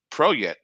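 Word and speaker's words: Peret: lasted from June 21st to October 21st, emergence, pronounced Proyet, which lasted from October 21st to February 21st, and summer, pronounced Shomu, which lasted from February 21st to June 21st.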